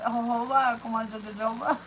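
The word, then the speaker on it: jojoba: oils like coconut oil and argan oil and jaba oil. That's how you say it. Hoba.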